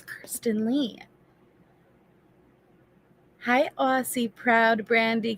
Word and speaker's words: Kirsten: Okay, Daryl, I was saying it wrong even because every time I said Kristen, and then I was saying Kirsten, and it's Kirsten.